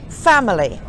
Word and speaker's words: family: and here's another one family the stress of the fact that in E becomes the schwa family and dinosaur it's